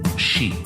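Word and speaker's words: sidhe: offerings for the she which is spelled s d h e or I think in Scots English it's s t but is pronounced she white Banshee the supernatural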